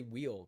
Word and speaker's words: Weil: I just want to say wheel because it's like W-E. Wheel. Weil. That doesn't make any sense.